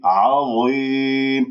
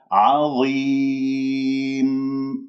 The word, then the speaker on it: عظيم: عظيم، ولا تفخم الياء تقول عظيم، لا، عظيم.